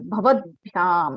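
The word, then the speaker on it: भवद्भ्याम्: ठीक है, द के नीचे भ लगा है और या लगा है, भवद्भ्याम ऐसा उच्चारण करना है।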